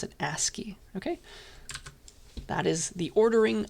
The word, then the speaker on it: ASCII: That's how you pronounce it, ASCII.